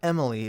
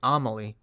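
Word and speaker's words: Amalie: a-m-a-l-i-e why am i why can't i pronounce that emily it's not emily it's like amelie what anyways amelie benjamin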